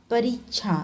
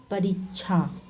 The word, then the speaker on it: परीक्षा: परीक्षा नहीं, परीक्षा, बड़ा ई की मात्रा का उच्चारण होता है।